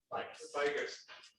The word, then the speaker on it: Bigus: Also with me tonight, Eric Bigus. I always want to mispronounce it. Bigus from Quick Trip, and then Matt Brown from AMF Engineering.